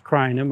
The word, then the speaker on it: Crinum: but the Crinums or Crinum lilies, the scientific name for the genus is Crinum, or a lot of people pronounce it Crinum.